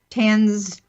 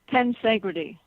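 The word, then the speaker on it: tensegrity: affects the cells and i hope i'm pronouncing it correctly it's the concept of tens i'm not i'm not advancing it right ten segre tea thank you and what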